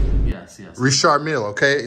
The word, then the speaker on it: Richard Mille: Richard Mille Blue Mask.